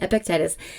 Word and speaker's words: Epictetus: I've heard that pronounced so many different ways, but that is how I say it, Epictetus.